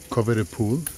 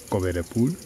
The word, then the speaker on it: Coverpool: Esta compañía se llama Coverpool, pero no se dice cover pool aquí en España, dices cover a pool.